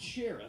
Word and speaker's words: Shareef: Sometimes I'd be like, actually, they'd be like, what kind of name is Shareef? And I'd be like, actually, it's pronounced Sheriff.